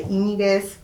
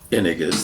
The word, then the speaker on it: Yñiguez: And I would always place the accent on the Y, which is Yñiguez, not Yñiguez, not Yñiguez, but Yñiguez.